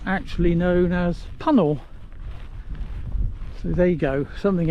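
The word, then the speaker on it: Puncknowle: I'm camping tonight, which is a village which is spelt like Puncknole, but of course, as expected, he being a local told me it's actually known as Puncknole.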